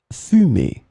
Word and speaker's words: fumée: In this lesson, we will see together two words that are written differently but pronounced the same way. Fumer, fumer.